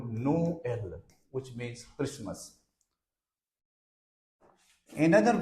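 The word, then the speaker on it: Noël: n o n but if we put double dot on E then what will it be in that case its pronunciation will become no l which means Christmas in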